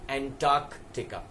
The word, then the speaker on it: Antarctica: the opposite of Arctic so it is anti Arctic and Arctic so that continent is known as and talk tikka right so that was